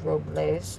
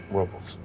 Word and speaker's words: Robles: They call it Paso Robles, Well, the correct pronunciation is Robles. but they call it Robles.